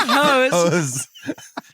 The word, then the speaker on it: Hoax: it was called pronounced hose. It is French. It's pronounced hose.